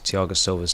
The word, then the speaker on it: Thiago Silva: It's Thiago Silva's team. Thiago Silva's team, yeah, you're right. Indeed, yeah. Thiago Silva. That's how you would say his name in Brazil.